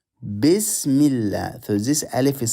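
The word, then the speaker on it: بسم الله: You notice this Alif, we don't read it. We don't say Bismillah. We say Bismillah.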